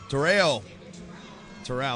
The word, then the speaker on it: Terao: Terao, excuse me, as I get corrected on my pronunciation, immediately ties it up and effectively takes the lead.